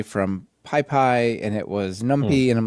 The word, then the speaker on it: NumPy: that they call that pipi and they call numpai and and so just pyx for example, right? It could have many pronunciations.